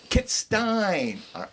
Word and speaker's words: Kittstein: Did I pronounce that right? Kittstein. Kittstein.